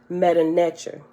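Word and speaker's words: Medu Netjer: metoo or divine speech or also i've heard it pronounced um and i think this is the proper pronunciation meta nature right meta nature so i was saying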